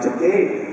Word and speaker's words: Takei: gay as its substitute my last name is pronounced to gay which rhymes with gay so I said then